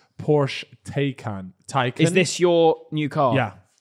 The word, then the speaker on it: Taycan: No, but Taycan. That's how you say it. That is how you say it. It's no. Thai as in Taycan.